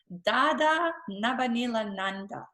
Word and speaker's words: Dada Nabhaniilananda: person a special individual and a special soul da da na Benilde Ananda I I pronounced your name correctly dad all right you're